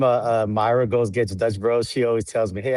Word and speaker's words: Dutch Bros: Dutch Bros.